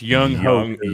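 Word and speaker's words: Younghoe Koo: Young that man his name like it's spelled. That's Young Hoku.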